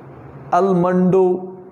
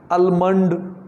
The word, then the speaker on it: almond: It's pronounced in general way almond, almondo, almond like. But here is L is silent. The combination of L, M, L is always silent. It is almond.